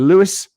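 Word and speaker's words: Lewes: happy 19th birthday mia he's playing along in lewis spelt l-e-w-e-s are you impressed i knew i pronounced that and how jason can you shout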